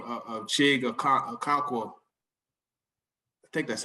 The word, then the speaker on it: Okonkwo: through Initially, I thought the pronunciation was Okonkwo, but it's Okonkwo. So I was just trying to remember which one was the right one, but it's Okonkwo. Chig, we'll just call him Chig.